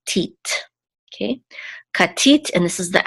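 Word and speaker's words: כָּתִית: Okay, katit, and this is the accent or trope mark, and so we know that the accent is on the last syllable, tit, katit.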